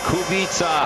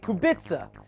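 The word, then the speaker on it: Kubica: Robert the kubita. All right, there it is. Kubita. Now, I was saying it wrong. I was saying kubitza and JF was saying kubika.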